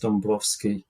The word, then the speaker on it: Dąbrowski: Sometimes you see his name as Dąbrowski, like D-A-B, but we looked into it, and he is actually pronounced Dąbrowski, even if it looks like it should be Dąbrowski.